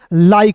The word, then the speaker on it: like: तो आई का उच्चारण आई के रूप में करोगे, और के का उच्चारण क के रूप में करेंगे, तो क्या हो जाएगा? LIKE, लाइक हो जाएगा।